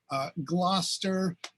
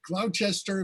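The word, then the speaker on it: Gloucester: but then you've got other things like gloster which uh i would think would be cloud chester if you were just trying to sound it out or worcester for which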